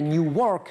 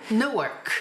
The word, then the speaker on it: Newark: On est à Newark, j'essaye de prononcer correctement, vous me corrigez s'il le faut. Newark.